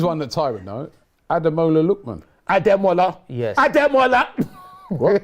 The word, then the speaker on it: Ademola: I said Just say Ademola. look. Just say look. Ademola. Ademola. Ademola. That's how you say it.